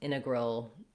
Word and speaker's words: integral: these t's integer um integral um uh we have to pronounce it though in integral because if it were missing there in egg roll it would sound very strange so when we have